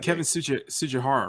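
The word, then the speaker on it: Tsujihara: CEO, Kevin, and I always forget how to pronounce his name, so I'm not going to. Is it Kevin Sujihara, right?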